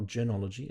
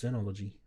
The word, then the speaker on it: Zenology: It's not Genology, it's Zenology. I was going to say. Yeah, I thought you say were it. just mispronouncing. I thought, that's an interesting pronunciation I've never heard. That's a Z.